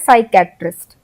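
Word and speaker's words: psychiatrist: है इसमें सके साइकेट्रिस्ट तो हमने पी तो लिखा है स्टार्टिंग में लेकिन हम पी को उच्चारण में नहीं ले रहे हैं। हम एस से उच्चारण शुरू कर रहे हैं।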